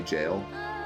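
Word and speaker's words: gaol: it until today oh you just literally say jail I never knew that is it true sir are you a real Knight no it certainly isn't pronounced go all right shut up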